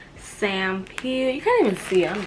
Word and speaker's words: Sampeel: This is how you say it. It's Sampeel.